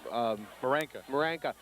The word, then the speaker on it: Maranka: How's the coach's name pronounced? Paul Maranka. Maranka is not going to